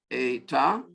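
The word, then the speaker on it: ἦτα: we've added: epsilon, zeta, eta. There's no line over the E, there should be. Eta, theta, should be a line over that E as well to get that long pronunciation, but that's okay.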